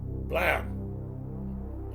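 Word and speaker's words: Blame!: science fiction manga called blam I would say blame but it's supposed to be pronounced blam like it's an explosion Bam um but yeah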